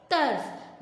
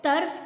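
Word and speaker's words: طرف: जी class, तो इसकी तोए रे फे तरफ, बोलने में हम इसको तरफ कहेंगे, ठीक है, तरफ नहीं कहेंगे। वो आपको वर्ड की पहचान कराने के लिए मैंने बोला था, ठीक है, लेकिन इसकी प्रोनाउंसिएशन क्या होगी? तरफ। तरफ नहीं बोलेंगे, ठीक है क्लास।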